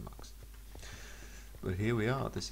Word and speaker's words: mux: I think it's supposed to be pronounced mux because it's short for multiplex.